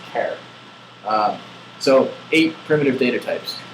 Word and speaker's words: char: there's boolean and care some people call it pronounce it char as far as i'm concerned charge of fish and the shortening of character is care so eight primitive data